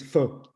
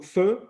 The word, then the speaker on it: pho: see in every Vietnamese restaurant across the world, not just in the US, is pho.